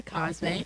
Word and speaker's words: Cosme: I'm Cosme, and that rhymes with Beyonce.